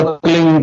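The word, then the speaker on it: क्लीं: की मात्रा और बी उसका उच्चारण होगा क्लिंग ग की ध निकलेगी पीछे आप अंग बोलो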